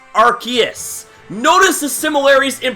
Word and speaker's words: Arceus: Arceus. Notice the similarities in pronunciation here, and what RKS system does is,